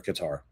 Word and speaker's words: Qatar: In every single statistical category that we are discussing today, they are crushing Qatar, or Qatar. I guess I can pronounce it both ways.